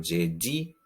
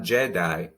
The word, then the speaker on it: jeudi: Then we have jeudi, jeudi, jeudi. It's not Jedi, it's jeudi.